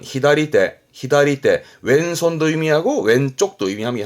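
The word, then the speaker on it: 左手: 발음은 히다리테, 히다리테.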